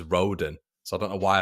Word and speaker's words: Rodon: I say his name as Roden, so I don't know why I've put Roden.